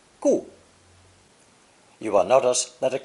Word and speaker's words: 固: Pronounced fourth tone, gu, gu.